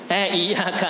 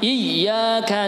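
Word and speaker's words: إِيَّاكَ: Perhatikan, banyak yang salah seperti bacanya. Iyyaka na'budu wa iyya, itu tekan sempurna. Yang betul ada mengalir suara karena sifatnya rohwah bahasa kitabnya ya.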